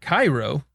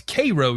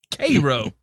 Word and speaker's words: Cairo: We don't call it Cairo. That's Cairo, Georgia. Cairo. Yep. Well, and there's a town that is spelled just like Auburn, Alabama.